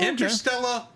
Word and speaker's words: Interstella: our list to do oh interstella 45 that is actually how it's pronounced that's what that's is